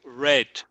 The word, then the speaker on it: read: Eskimo read read read en el pasado the pronunciation is como red rate rate so missin baba regular says Gribble